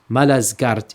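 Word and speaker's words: Malazgirt: the town of Manzakart and today it is pronounced Malazgart in Turkey.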